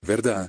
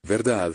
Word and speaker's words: verdad: You don't pronounce the D in words like verdad, verdad, ciudad, ciudad.